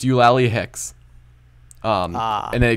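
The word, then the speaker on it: Eulalie: It's pronounced Ulawi. Ulawi, Professor Ulawi.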